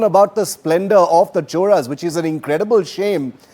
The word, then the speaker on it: Chola: Uh and I know that it's pronounced choras and not cholas as some people continue to pronounce it.